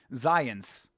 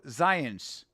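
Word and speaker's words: Zając: J A C and his last name is pronounced Zans. Bro, Polish pronunciation is so weird. Ready for Space Balls, too. Exactly. Mel Brooks doing a little a little light MMA training in preparation. Bro, Zans is his last name and it's spelled Z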